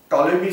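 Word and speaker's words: Ptolemy: जेव्हा टॉलेमी सारखे विद्वान, टॉलेमीचं स्पेलिंग या पी पासून चालू होतं, तर टॉलेमी सारखे विद्वान ह्या प्रकारचा दृष्टिकोन पुढे मांडत होते.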